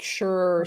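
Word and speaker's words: Scherr: mispronounce his last name it's like sure s s c h e r r sure something like that we met at um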